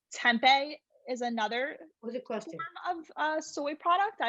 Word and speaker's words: tempeh: see what it is it's with a t and it sounds like tempo yeah a little bit